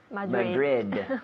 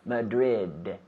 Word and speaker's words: Madrid: Madrid yeah Madrid Madrid you know in English we have to pronounce those D's yes Madrid so we have the I have the D with my tongue touching the roof of my mouth behind my teeth Madrid Madrid again Madrid